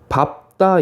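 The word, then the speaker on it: 밟다: 리을, 비읍은 단어의 끝이나 자음 앞에서 리을로 발음되는데 예외적으로 밥다 있죠. 밥다. 잔디를 밥다. 바의 리을, 비읍. 다는요. 얘만 발다가 아니고 바의 비읍이 오고요. 뒤에 따 이런 식으로 소리가 나게 됩니다. 밥다만 리을, 비읍이 비읍으로 소리 난다라는 거.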